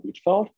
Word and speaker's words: Hvitfeldt: My name is Hvitfeldt. If you have a hard time pronouncing it, remember that both the H and D is silent.